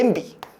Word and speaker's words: 냄비: 냄비. 넘비예요. 원래 남비였어요. 아, 그래요? 어, 원래는 남비였는데 냄비로 냄비로 이제 표 뭐야? 발음이 계속 되다 보니까 얘를 뭘로 인정했냐? 표준 발음으로 인정했어요.